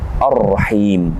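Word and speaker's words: الرحيم: Kita temukan kembali Ar-Rahim. Alif lam bertemu dengan huruf ra, yang mana alif lam di sini kita tidak membacanya, tapi langsung masuk kepada huruf ra. Alif lam syamsiyah.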